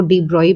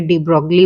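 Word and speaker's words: de Broglie: speed given है बच्चों डी ब्रॉली wavelength को कई तरीके से प्रोनाउंस करते हैं तो हमें इससे कुछ ऐसा फर्क नहीं पड़ता है कि इसको डी ब्रॉय बोले या फिर डी ब्रोग्ली बोले ठीक है रहेगा यह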